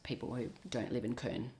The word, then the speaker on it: Köln: Australia, but I think they it's spelled and pronounced differently. It's Karn. I probably can't quite get the accent right. Karn K O with an omlot ln.